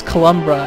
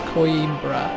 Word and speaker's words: Coimbra: of soldiers in coimbra I've been calling this cumbra and it's not it's coimbra I'd never heard of